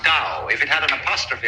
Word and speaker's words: Tao: This principle of organic growth they call Tao. That's pronounced Dow. If it had an apostrophe after it, it would be pronounced Tau. But Dow is more or less the right pronunciation for that word.